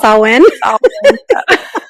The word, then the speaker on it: Samhain: So when you said Celtic, I started laughing because we did a whole episode on Samhain, which is actually pronounced Samhain.